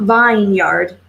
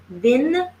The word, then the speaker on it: vineyard: And so it's not vineyard, vineyard. The E is silent.